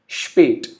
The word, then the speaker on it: spät: So the pronunciation of the complete word would be spät, which means late in English.